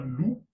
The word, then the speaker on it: loup: Par exemple, un loup, le P ne se prononce pas.